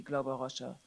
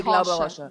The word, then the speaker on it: Glauber Rocha: When I saw first, you pronounce him differently, Glauber Rocha. We say Glauber Rocha.